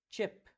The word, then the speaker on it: chip: mais longo então Sheep Em contrapartida nós temos o chip mais curto chip chip que